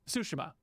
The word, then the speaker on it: Tsushima: I'm sorry, Tsushima. I got to get used to pronouncing that right.